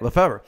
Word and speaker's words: Lefevre: How do you pronounce it? You got it. Lefevre.